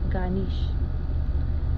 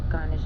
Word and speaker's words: Ganesh: Om as in O-M, Ganesh as in G-A-N-E-S-H, and the pronunciation for Ganesh is Gahnesh.